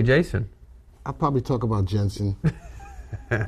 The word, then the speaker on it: Jensen: It was good to hear from Jason. Jensen. Why you say the name wrong all the time? Oh, me. It's Jensen.